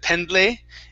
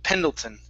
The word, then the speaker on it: Pendleton: name uh camp pendleton instead of instead of pendley it's pendle pendleton pendleton there you go okay and